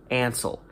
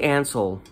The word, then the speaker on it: Ansel: name was spelled n-n-a-n-s-e-l so i think ansel it's hansel without the h is kind of how i think about it johnny ansel had been working for